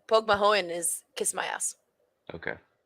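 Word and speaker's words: Pogue Mahone: too not too bad does Pokemon mean kiss my ass yeah or or did it mean Kiss Me I'm Irish no POG Mahone is kiss my ass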